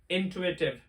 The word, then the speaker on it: intuitive: this is pronounced as intuitive it sounds like Twitter intuitive it means to